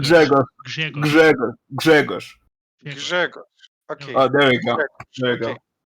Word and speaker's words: Grzegorz: not Grzegorz. Grzegorz. There's a G in the front. Okay, Grzegorz. No, not Grzegorz. Grzegorz. Grzegorz. Grzegorz.